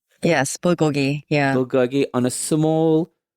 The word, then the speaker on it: bulgogi: Now, am I pronouncing this right? Bulgogi. Yes. Bulgogi.